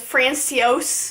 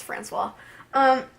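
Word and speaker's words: François: Francois I hate him at first I thought his name was France teos I'm like I don't think that's how you pronounce it so I looked it up it's Francois um so glad I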